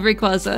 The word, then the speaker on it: Rayquaza: Rayquaza yes we love Rayquaza I think it's technically Quay instead of qua ah I see I